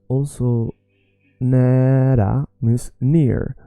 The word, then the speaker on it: nära: När means when, but it's also nära means near. So it sounds a little bit like the word near. So when you want to think about how to say the word near or the word when, both sound similarly.